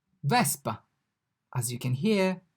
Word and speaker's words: Vespa: V, vespa. As you can hear, the V sounds exactly as in English. Indeed, it's pronounced like V in volt, volt, V, Vespa.